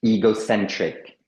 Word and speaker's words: egocentric: egocentric tout à fait le E se prononce I egocentric égoïste égoïste selfish tout